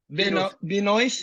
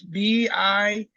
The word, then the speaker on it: Benoist: So for people at home, it's called Benoist. How do you pronounce it? Benoist? Binois, yeah. Binois. It's Binous.